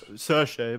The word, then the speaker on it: Saoirse: Saoirse, but okay. Well, yeah, that doesn't look how it... That doesn't sound how it looks. That's how it's pronounced.